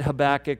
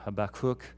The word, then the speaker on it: Habakkuk: I've always said Habakkuk, but I gotta admit the emphasis should be on the last syllable. I was looking that up, and so I was taught wrong. Habakkuk really is where it should be.